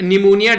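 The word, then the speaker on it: pneumonia: है सबसे पहले बात करते हैं पर वर्ल्ड निमोनिया डे के बारे में यहां पर जो है वह साइलेंट रहता है इसको पी एन-यू एम ओ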